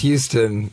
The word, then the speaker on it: Houston: It's pronounced Houston. That is what it all comes down to. I think so. Because why? It's everywhere else, it's Houston.